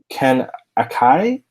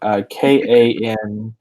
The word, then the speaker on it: Kanakia: Ken Akai. I definitely said that wrong. Kanakia.